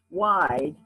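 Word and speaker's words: wijd: but the word comes it's a dutch word that was translated into afrikaans and it's it's pronounced wide and it's because their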